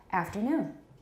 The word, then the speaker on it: afternoon: is on aft but it's not on aft it's on noon afternoon afternoon everybody good afternoon